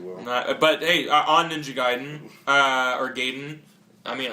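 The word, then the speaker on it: Gaiden: other way so yeah the way You' pronounce it in Japanese would be giden giden uh okay so nun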